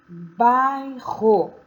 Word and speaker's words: bairro: prolongada veja o exemplo bairro os dois erres estão entre duas vogais e o som ou forte e prolongado e veja esses outros